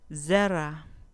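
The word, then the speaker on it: זרע: Zera, zera, con acento en la penúltima sílaba.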